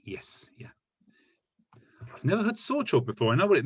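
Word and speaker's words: 早朝: Normally, I've normally heard this pronounced in the kunyomi, haya asa. Sorry. Haya asa. So this is exactly these two kanji read in their Japanese reading, haya asa. But socho, we've all learned a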